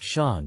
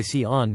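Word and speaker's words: Siôn: Having only emailed before meeting, I assumed their name would be pronounced Sean, but it turns out they go by Sion mostly because in a country where Welsh isn't common no one ever got it right and they just gave up.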